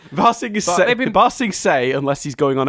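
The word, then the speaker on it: Ba Sing Se: they've been bigging up basting sang for i'm sure i didn't pronounce that right so close it was just the last letter say not basting saying fasting say they've been busting say unless he's going on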